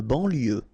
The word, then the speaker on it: banlieue: De banlieue, okay, final E not pronounced, so IEU, IE, L, lieu, banlieue, de banlieue.